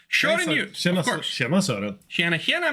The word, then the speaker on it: Sören Hjort: Shoren, you pronounce this thing. It's in Icelandish or some other outlandish northern. Sören Hjort. Shoren Hjort, of course.